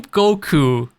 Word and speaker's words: Goku: Yeah, by the way, the name Goku is actually the kanji form of Wukong. They wrote exactly the same way, but pronounced different way in Japanese.